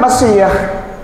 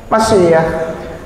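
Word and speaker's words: מָשִׁיחַ: Ini bacanya Mesiah. Artinya anointed, nabi. Itu hurufnya Mem, Shin, Yod, Hei. Bacanya Mesiah.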